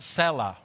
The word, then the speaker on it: Selah: You can see in your Bible a little word, I put it right here in red, that is, it's pronounced Selah, okay?